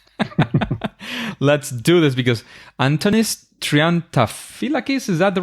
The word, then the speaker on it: Triantafyllakis: I don't care uh trianta fakis is the right way to pronounce it but please don't bother